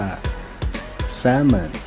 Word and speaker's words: salmon: เนาะ ปลา แซลมอน ครับ ภาษา อังกฤษ ถ้า จะ ออก เสียง ให้ ถูก ต้อง พูด ว่า ซัมเมอร์ salmon ให้ เรา My name